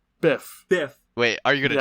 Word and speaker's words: Biff: get rid of the almanac did you say buff Biff Biff wait are you gonna challenge that yes off of Bryce mispronouncing Biff's name finally in the last movie